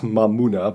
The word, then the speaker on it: Mamuna: my money but yeah it's supposed to be pronounced mamuna but i just like the fun i made